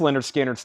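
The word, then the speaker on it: Lynyrd Skynyrd: for a $15 start lyard skinnard pronounced Leonard skinnard $ 36.99 and we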